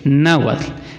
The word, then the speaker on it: náhuatl: Pero entre nahual y náhuatl o náhuatl, en primera, náhuatl lleva acento en la A, en la primera A, na, y tiene terminación TL, náhuatl.